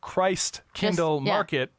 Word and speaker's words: Christkindlmarkt: first started at folkway it's just Christ Kindle Market but take out all the e but take out all